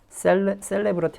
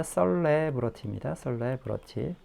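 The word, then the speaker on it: celebrity: 점점 증가하는 수의 뭐 영화 스타들, 우리가 알고 있는 그 무비 스타들, 그리고 other 셀레브러티 아닙니다. 썰레브러티입니다. 엑센트가 뒤쪽에 있어요.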